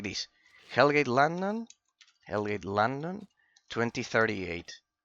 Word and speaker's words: Hellgate London: You is a because of the pronunciation. Hellgate London like this like this. Hellgate London.